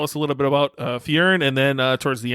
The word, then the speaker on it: Fyrn: charn dave is the co-founder and ceo of fjorn which is spelled f-y-r-n so if you're on your phone